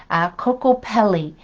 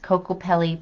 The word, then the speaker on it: Kokopelli: It's if I don't pronounce this properly, Kokopelli. Kokopelli, that's Kokopelli.